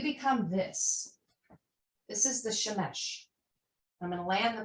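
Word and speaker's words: שמש: Shemesh. Shemesh. That's what Shemesh. Shemesh. How it's spelled how it If sounds.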